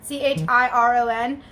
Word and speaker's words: Chiron: Chiron.